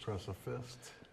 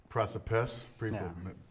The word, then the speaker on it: Preciphist: Press a fist. But we kept the P in it, so instead of So it's unique.